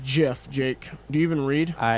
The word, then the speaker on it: GIF: My favorite Spider-Man like GIF, I guess, is the one It's where pronounced Jif, Jake.